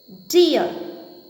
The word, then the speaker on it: deer: It is deer.